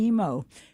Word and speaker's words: Imo: Ed was pronouncing his name Imo. Okay. His brother was Johnny Emo. His mother was Lena Emo, and for some reason, Eddie was always Eddie Imo.